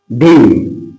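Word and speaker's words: Dame: আমরা ডেইম ইউজ করবো ডেইম উচ্চারণটা হবে ডেইম প্রাপ্তবয়স্ক পুরুষের নামের পূর্বে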